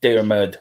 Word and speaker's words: Dermot: Yeah, I've actually changed Dermot into the Irish, how Dermot is pronounced in Ireland. Big up, Kuba. Dermot. So that's how it's pronounced.